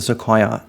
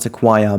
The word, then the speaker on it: sequoia: this corner of the sequoia area. By the way, I just learned that it's not sequoia, but it's actually sequoia. So I said it wrong for almost 2 years of this series, but whatever.